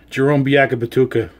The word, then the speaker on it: Bacabatuca: Now, I know a lot of you out there are going to say, oh, you're saying the name wrong. But I'm going to tell you right now, this is exactly the way it's spelled.